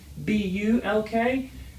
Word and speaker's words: bulk: The next one is also LK, but we take the first three letters, B-U-L-K, B-U-L, and the U sounds like the U in cup, so we say ba, bull, bull, and then add a K, bulk, bulk, all right?